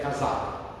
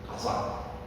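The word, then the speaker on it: חזק: a pronúncia dele é casac pronuncia aqui na garganta casac ah viver exige isso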